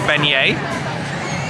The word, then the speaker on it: beignet: She says they do really good beignets, so we can pass up an opportunity to try a beignet. Nick, you pronounced it correctly.